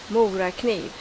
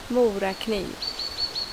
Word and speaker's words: Mora kniv: from the south but this is how i pronounce a few swedish words according to b let's start out with mora kniv mora mora kniv mora mora kniv we also have hilleberg hilleberg